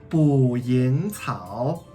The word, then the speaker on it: 捕蝇草: Okay, so this guy is called 捕蝇草 in Chinese.